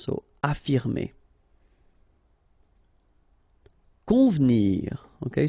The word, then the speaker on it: convenir: Convenir. Okay, so the here is not really pronounced, so first you've got this nasal, on, convenir, convenir.